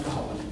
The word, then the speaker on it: Cuchulainn: Trust me, it's pronounced Cuchulainn.